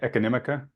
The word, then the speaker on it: Econimica: uh your website um and make sure I pronounce it correctly economica yeah okay um it is a it's a